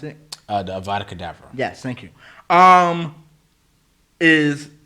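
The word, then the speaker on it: Avada Kedavra: spell I need which is how do you pronounce it uh the Avada cadaver yes thank you um is the level 28 and I'm like level 27 I just turned level 27.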